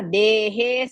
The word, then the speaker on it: देहे: Coming to the second pada, dehe sarvasya bharata. Dehe, both are dirgha. Dehe dirgha, he dirgha.